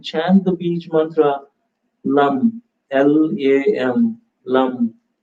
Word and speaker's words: lam: the Bij mantra Lam, L-A-M, Lam. When you pronounce it, it's two-syllable mantra. When you spell it in English, it's like L-A-M.